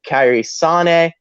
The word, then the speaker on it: Kairi Sane: You had the fun stuff with Kairi Sane, which that is the correct pronunciation of her name, and I'm never going to say Kairi Sane. Go fuck yourself, Drake. Go fuck yourself, Nigel McGuinness. But it's Kairi Sane.